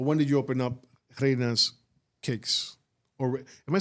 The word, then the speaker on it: Reina: did you open up Reina's Cakes? Or am I saying that right? Is it Reina or Reina? Reina's Cakes. Because I know Reina's more Spanish. Yeah, but it's either way.